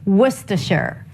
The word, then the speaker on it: Worcester: goes how to pronounce wer you start with a W sound a w sound and the uh as in cook w w I could